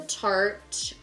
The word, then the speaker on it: Tarte: So, now I'm using Tarte Shape Tape.